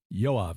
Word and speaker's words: Yoav: patriarch but it's uh the same name as yav Galant the current defense minister of Israel that's the name yav j OAB B yav is how you pronounce it yav spells his phonetically y o a v yeah